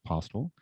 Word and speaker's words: Postil: Name's Postil, Postil, pronounced Postil.